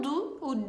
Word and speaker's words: du: E tem um outro uso para o du, né? Eu digo du, escrito em português du, mas a gente diz du.